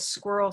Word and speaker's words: squirrel: a d right here why i was hearing squiddle squiddle instead of squirrel squirrel yeah in so many languages